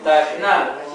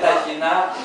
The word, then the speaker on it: ταχνά: Είδατε εδώ το «η» είναι εντός παρενθέσεως και δεν προφέρεται πολύ. Δεν λέμε ταχινά, αν και σε μερικά τραγούδια θα το δούμε αυτό, ταχινά. Άλλοτε το λέμε ταχινά και άλλοτε το λέμε ταχνά.